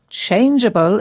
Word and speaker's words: changeable: Yes, there are quite a lot of words with the letters G-E in them, and the E shows that the G is pronounced softly as J, changeable.